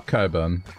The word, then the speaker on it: Cockburn: um but you know I just wrote out cockburn that's not how it's pronounced it's uh Coburn does does more egregious